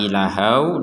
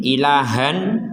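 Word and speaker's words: إلها: ketika kita menggabungkan kata ilahau dengan Wahidah yaitu tanwin gabung dengan wau kalau kita berhenti di ilaha maka tanwinnya ini kita bacanya menjadi panjang dua harakat misalkan wa ishaqo ilaha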